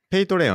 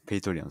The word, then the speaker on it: Patreon: すかなんかね僕が知ってる限りではペイトレオンって読むらしいんですけどそうねペイトレオンすねいやわかんたなんかペイトレオンって呼ばれてますねなるほどこれは